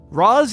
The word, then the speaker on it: Ra's: the pronunciation for race Roz and race are both correct the Animated Series said race the movie said Roz the Arabic pronunciation is Roz while the Hebrew one